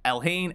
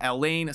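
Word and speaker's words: Elhain: Hayne now we had elhane Elaine sorry I always say it wrong I'm excited to see it in the video and then I'll try to remember to say it right but it's hard for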